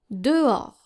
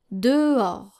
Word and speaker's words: dehors: And this can be challenging because we have the letter H here that is very tempting to pronounce. Especially for English speakers, they always tend to pronounce the letter H in French, but in French it is silent. And this is how you're supposed to pronounce this word. Dehors. Dehors. So the H is silent and the S is silent.